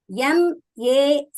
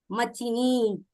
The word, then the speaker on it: machine: For example, M-A-C-H-I-N-E. If we pronounce this word as it is written, for example, M-A, ma, C-H-I, chi, N-E, ni, how do we need to pronounce this word? Machini. Similarly, actually, how do we pronounce that word? Actual word, we pronounce it as machine, right?